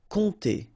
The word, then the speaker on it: compter: All right, so OM, really like a nasal here. On, and then this P is not pronounced. Compter.